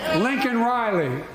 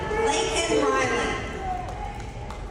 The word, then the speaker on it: Laken Riley: Lincoln Riley, an innocent young woman who was killed by an illegal. Mispronounced it, didn't even say it right, he said Lincoln. Her name is Laken Riley.